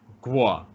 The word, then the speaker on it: Kuo: So it sounds kind of like a G. Guo.